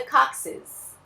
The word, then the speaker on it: coccyx: Esse bando de consoante aí se pronuncia coccyx. Então, o primeiro C dos dois Cs juntinhos, né, a gente pronuncia com som de C, o segundo com som de S e o X com som de Z.